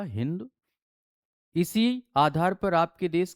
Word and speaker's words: हिंदू: इनके द्वारा बेटा स का उच्चारण ह से किया जाता था। अतः इन्होंने स को क्या बोला होगा? हिंदू।